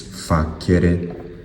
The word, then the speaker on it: facere: If you pronounce it with a hard C, it's facere.